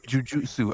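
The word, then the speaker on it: jujutsu: It's Jiujutsu. I say jiu-jitsu. Yeah, he did. Oh, okay. Okay. So, so, so, but that's not the proper enunciation. That's not the proper enunciation. It's not the way it's spelled.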